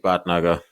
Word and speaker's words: Bhatnagar: what's what's what's on the cards for bad nugga great pronunciation of my last name by the way